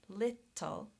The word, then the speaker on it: little: Unless it goes with an L, there's an exception. Little. Little has 2 vowel letters and 2 syllables.